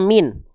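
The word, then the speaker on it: مِنْ: Dibacanya min ya, enggak dibaca mina, mini, minu karena dia dalam kondisi mati, sukun.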